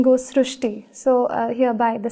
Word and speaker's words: Srushti: We have heard of Srishti, but this is a very unique name, Srishti. So in Marathi, the word Ri is pronounced as Ru. So that is why the pronunciation goes Srishti.